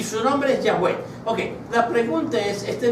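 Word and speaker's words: Yahweh: esas cuatro letras se llama tetagam y se pronuncia Así yah yahwe es indivisible no está dividido en dos o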